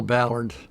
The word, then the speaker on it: Ballard: okay great so let's let's start off here first of all would you please pronounce and spell your name for us mil my full name is L Ballard Leo for centre de el BER t ba